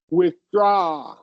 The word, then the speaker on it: withdraw: We're going to we're going to emphasize the second syllable. Your pitch is going to go up on the second syllable. So it's going to sound like withdraw.